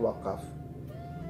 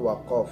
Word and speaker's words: wakaf: wakaf wakaf jurusan Hello di Indonesia bacanya wakaf ra usah Arab Halo Bang membacanya waqaf Hai wakaf menurut istilah